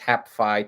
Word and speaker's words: HapPhi: we had a happy hap phi pronounced hapfy technically but i don't want to make somebody go hooked on phonics to deal with us so we call it happy um and then there's